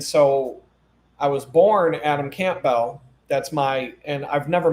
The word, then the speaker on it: Campbell: The whole family I grew up with were the Campbell family. Camp, some people pronounce it Campbell, but I my family calls it Camp Bell.